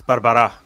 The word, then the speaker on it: Barbará: I'm going to say Barbara close it's Barbara but uh you know